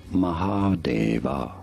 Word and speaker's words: Mahadeva: you say it mahadeva mahadeva is how it is normally said in sanskrit mahadeva and now you